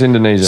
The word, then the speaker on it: Indonesia: It's Indonesia.